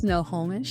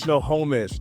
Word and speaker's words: Snohomish: Snohomish. Snohomish.